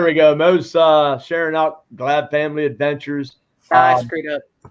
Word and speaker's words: Glab: So hey, I'm impressed that you said Glab right. Glab. You're good. I've been saying it and I'm thinking, man, I'm hoping I'm pronouncing that right.